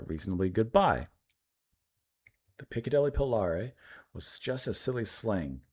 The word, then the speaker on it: Polari: How do you pronounce it? Polari. Okay. Po- Polari.